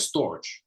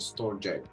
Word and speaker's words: STORJ: how to pronounce this I call it storage because it kind of sounds like storage yeah but Robin calls it store Jake so no it is storage it says on it said on coin market cap but that is how you pronounce it I just completely forgot so I am trying to you know but storage is the correct pronunciation these guys um uh